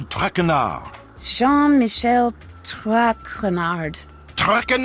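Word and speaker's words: Traquenard: butchered while I eat as for my name not TRACON art it is Jean Michel trackin our Jean Michel track renard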